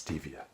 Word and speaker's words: stevia: to the drink mix i also looked up the pronunciation it's stevia all right taste test